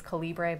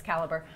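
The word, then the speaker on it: Calibre: It's spelled the British way, so it looks like it says Calibbre, but it's it's caliber.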